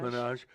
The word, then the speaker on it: Minaj: Nicki, how do you pronounce Nicki Minaj? Minaj.